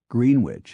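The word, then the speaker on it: Greenwich: laughable to dwell on he insisted that grenwich and TS be pronounced as spelled green witch and themes and favored giving quality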